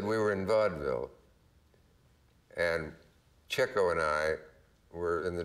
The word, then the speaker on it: Chico: And the next day, Chico, and that's how it's pronounced, and Groucho were walking.